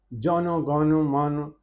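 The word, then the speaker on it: জনগণমন: ये गीत बंगाल की साधु भाषा में लिखा गया है, जिसे बांग्ला उच्चारण के साथ बोला जाता था। जौनो गौनो मन अधिनायक जय हे भारतो भाग्य विधाता।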